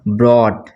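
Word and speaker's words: brought: इसको पढ़ेंगे हम ब्रॉट, इसको क्या पढ़ेंगे ब्रॉट, जीएच साइलेंट हो जाएगा ये, ठीक है ना, ब्रॉट।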